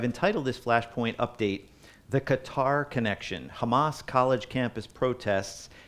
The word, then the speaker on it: Qatar: of the imagination, but it's more like Qatar. Okay, Qatar. So the tongue goes behind the roof, behind the teeth, your upper teeth, Qatar.